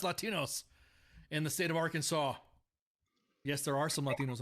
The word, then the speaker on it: Arkansas: It's actually pronounced Arkansas.